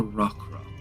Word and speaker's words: roc: They call it a rock cuz roper is made of rock and the rock is spelled R O C. So rock.